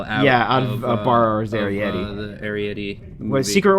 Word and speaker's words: Arrietty: The Secret World of Arrietty. I think. Or Arrietty, if you don't, you just read the title and then don't bother to watch the trailer where they pronounce it correctly.